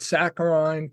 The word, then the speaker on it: saccharine: So instead he called it saccharine to rhyme with wine so as to be differentiated from the artificial sweetener.